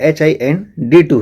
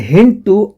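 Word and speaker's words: HindII: Was isolated, actually में HIN2 नहीं है, HIND2 है वो, ठीक है, बट हम नॉर्मली प्रोनाउंसिएट ऐसे कर देते हैं HIN2। Was isolated bye Smith, Wilcox and केली इन 1968 and HIN2 always cut the DNA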